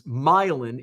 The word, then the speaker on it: Milan: Illinois it's just mispronounced names like Koo which is spelled Cairo Milan which is milin in Illinois uh orian Orion um mares is